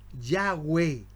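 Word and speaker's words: Yahweh: Bendito sea Dios y de ahí comienza a nombrarse yahwe los judíos lo pronuncian así ya Y por qué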